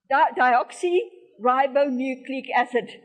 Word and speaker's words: deoxyribonucleic acid: person and the DNA is a chemical substance pronounced Dio um dioxy ribonucleic acid dioxy ribonucleic acid or DNA as I said the DNA is